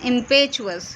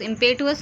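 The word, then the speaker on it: impetuous: हर इम्पेचुअस behaviour, क्या बोलेंगे friend, इसको कैसे प्रोनाउंस करेंगे, इम्पेचुअस, इम्पेटुअस नहीं, behaviour was attributed to her upbringing.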